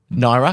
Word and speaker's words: naira: Naira.